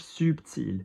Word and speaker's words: subtil: L is one of the ones that you do. So blush subtil.